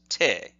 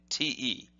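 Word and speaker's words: て: The next kanji we look at, or the next hiragana we look at, is this, and that says te, T-E, te.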